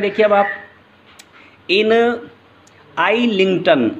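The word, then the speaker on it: Islington: stanza number two के बारे में देखिए, अब आप इन आइलिंगटन, अब यहाँ एस साइलेंट है, इन आइलिंगटन, आइलिंगटन एक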